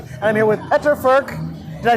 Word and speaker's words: Furch: Lots of cool stuff to hear, but we're here at Furch Guitars, and I'm here with Peter Furch.